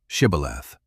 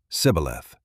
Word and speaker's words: shibboleth: Say the word shibboleth. But the Ephraimites could not twist their tongues to say it right. They said sibboleth, a tiny slip.